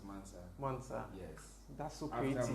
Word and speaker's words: MVNSV: It's spelled as MVNSV. But it's pronounced as Mansa.